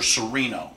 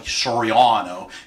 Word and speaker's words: Soriano: I understand all right everybody knows me is Mr Serino it's really Soriano coming from over from Italy but we don't use